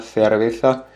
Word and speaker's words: cerveza: Una cerveza, ou comme on dirait en espagnol d'Espagne, una cerveza. Donc attention, eux, ils prononcent de cette façon, un petit peu comme le TH anglais.